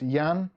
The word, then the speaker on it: Jan: many syllables one uh clicktech kev says jan pronounced yan um yes kind of ugly bob's triggered aletta